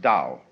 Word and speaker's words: Tao: decide how it's pronounced we should have spelled it D you see but it's t and this character here